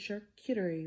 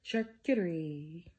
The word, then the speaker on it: charcuterie: you on a budget shirt Kittery board I just don't always say it like that charcuterie I don't know why